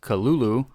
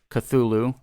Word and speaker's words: Cthulhu: uh throughout his life including kalulu uh with a heavy guttural first syllable like that yeah so basically like just kind of like weird gibberish because it's supposed to be spoken in a language that humans aren't able to pronounce so be like you know the most common pronunciation however is cthulhu popularized much uh later after lovecraft's death uh the truth of